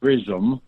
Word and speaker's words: Prism: It is titled Prism, and that's spelled Prism. A lot of people hear me say it, they think I'm saying prison.